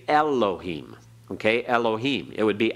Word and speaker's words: Elohim: always the uh so we've learned to say Elohim okay Elohim it would be actually Elohim be barely there with the first part of